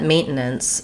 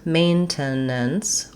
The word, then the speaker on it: maintenance: In any case, the word is going to have first syllable stress. So my main syllable is longer and has a clear vowel. It has the diphthong A.